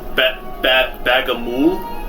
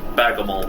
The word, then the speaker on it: Bagamul: It's pronounced Bagamul, but Bagamol works.